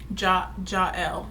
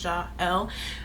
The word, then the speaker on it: Jael: I think I'm gonna use it for a middle name, and it's pronounced Jael, like it's 2 syllables, Jael.